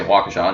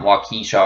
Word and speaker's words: Waukesha: the chief of policing Waukesha is how you say Waukesha not wakisha or how everyone else is saying it's pretty funny